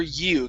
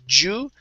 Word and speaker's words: you: But we're actually bad for you. Give me a good Y here instead of Jew. It's you.